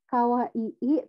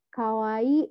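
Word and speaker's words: かわいい: misalnya binasa bisa lihat ada Kawaii Kawai jadi kan bukan kawah II tapi Kawaii gitu Inya panjang kemudian ada juga atau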